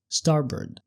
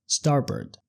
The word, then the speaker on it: starboard: لمقدمه السفينه او الطياره ولو ملاحظ نطعناها ستارب ستارب وما بنطولش في الجزء الثاني من الكلمه ما بنقولش بورد زي ما ليلي قالتها ده نطق بريطاني الامريكان بيقولوا ستاربورد ستاربرد يعني ميمنه او الجانب اليمين طيب عكسها ايه بقى؟